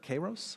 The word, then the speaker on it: Kairos: He's also the co-founder of Kairos, if I'm pronouncing that correctly, which is a data analytics